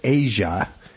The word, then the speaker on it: Aja: it was 76 77 from Steely Dan they pronounced it aja a yeah it's spelled aza almost a form